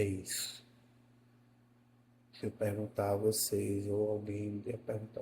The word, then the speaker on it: você: circunflexo no na palavra você para indicar que esse e é fechado é você e e e não você é e é com a